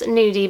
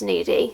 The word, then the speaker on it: Nuddy: the brand new d i want to say it's pronounced nudie because i would read that as needy so i hope that's right so they are an